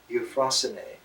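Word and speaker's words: εὐφροσύνη: This is a quality in Greek which is called, and the pronunciation we checked with Odell Scott Jones today, Euphrosune.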